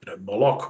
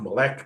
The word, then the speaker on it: Moloch: or Jehovah, depending on how you want to pronounce it. In the case of Moloch, you get all these different variations. Moloch, Molech, Malik, Malcham.